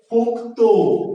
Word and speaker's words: পোক্ত: যুক্ত ব্যঞ্জনের শেষের ধ্বনিটা ওকারান্ত উচ্চারিত হয়, এটার উচ্চারণ হচ্ছে পোক্ত।